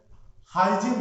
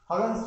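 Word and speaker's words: Huygens: लेकिन उसी समय एक साइंटिस्ट और थे, हाइजिन नाम का, एक्चुअल में उनका प्रोनाउंसिएशन है हगन्स वेव थ्योरी है, हाइजिन्स वेव थ्योरी।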